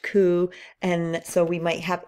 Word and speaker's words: coup: a coup injury so I know it has a p there but it's pronounced coup and so we might